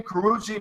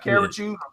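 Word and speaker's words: Karrueche: But that's her name, Karuchi, not Karachu, Parachute.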